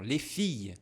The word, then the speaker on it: filles: Aqui se a gente for falar bem devagar, fia, ó, vai ter um a no final. Le fia, le fia. Quando a gente tá falando rápido ou até mesmo cantando, aí a gente não vai ouvir esse ia tu lefonag.